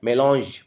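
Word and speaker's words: mélange: मेंट और तीसरा है मेलोज इसको प्रोनाउंस करते हैं मेलोज ये फ्रेंच भाषा का शब्द है इंग्लिश में लिया गया है मेलोज मतलब मिक्सचर अब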